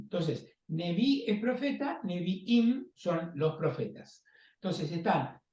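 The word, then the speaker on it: נביאים: que por supuesto que no es ni una I ni una M es una letra hebrea pero se pronuncia Im Entonces nevi es profeta neviim son los profetas Entonces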